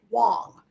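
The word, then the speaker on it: Huang: pronounced Wang right it's spelled Wang but it's pronounced W Wong yeah it looks like Wang but it's Miss Wong I think you're right they say it Wong on the show right yeah I'm saying say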